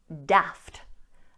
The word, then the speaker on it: daft: However, it's very likely that you'll hear this A pronounced as a short A. Daft, daft. You'll hear this in American English, daft, daft. And you'll also hear it in any northern accents in the UK, daft, daft.